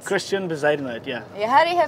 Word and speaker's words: Bezuidenhout: want to set the score for how you pronounce it. It's Bezuidenhout. Bezuidenhout. Christiaan Bezuidenhout, yeah.